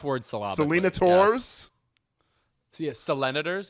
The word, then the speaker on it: Selenators: So, Selenators? Yeah, senators with an L in there?